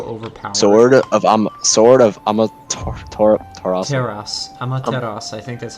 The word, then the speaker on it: Amaterasu: Amaterasu. I think that's how you pronounce it. Whatever the hell it is. Instills fear in enemy units. Yeah, it's Amaterasu.